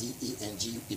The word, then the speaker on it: dengue: The dengue fever is spelled as D-E-N-G-U-E, but it's pronounced as dengue fever.